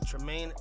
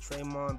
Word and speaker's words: Tremaine: Ashish I'll share trim I could never say his name correctly man Tremaine Edmonds man I always want to say traymon but it's I don't know I don't know and